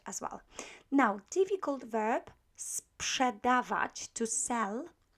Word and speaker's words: sprzedawać: Now, difficult verb, sprzedawać, to sell. You know that PRZ is pronounced psz, so you need to make the S sound before you say psz.